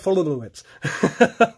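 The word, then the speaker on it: Foltynewicz: Yeah, it's not how it is pronounced, though. It's, it's Mike Fultonowicz.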